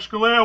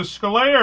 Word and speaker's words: Scalia: It used to be, because I grew up here, everybody pronounced it Scalia. Yeah. And then when I started traveling, people would read it as Scalia. And after the 100th time, I decided not to correct them because they were doing the Italian pronunciation.